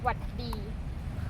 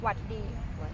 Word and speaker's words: หวัดดี: You can just say หวัดดี Oh, what D? So Yeah. you shorten it up a Yeah, little shorten bit. it. So from สวัสดีค่ะ to หวัดดี 2 syllables, easy.